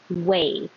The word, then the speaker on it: weigh: And weigh. How much do you weigh? And no way, I'm telling you, they sound the same.